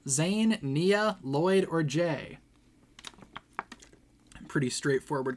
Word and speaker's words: Nia: It's Nia, by the way. Nia has 2 syllables in her name.